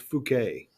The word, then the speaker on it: Fouquet: Well, by the way, if you look at this guy's name, the artist's name, Jean, and the last name is pronounced Fouquet.